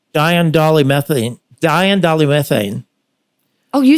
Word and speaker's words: diindolylmethane: So anyway, the first one I'm adding now is called DIM, D-I-M, and it's pronounced diindolylmethane.